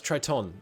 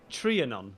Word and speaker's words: Trianon: No, that's Triton. It was Germany. It was different for Austria-Hungary. Did you say Triton? I don't know. How do you say it? Trianon. Trianon.